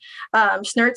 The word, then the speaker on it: Snrtz: going to shout out my plumber, Brandon Snertz, spelled SNRTZ. There's no vowels in his last name. It's very hard to pronounce.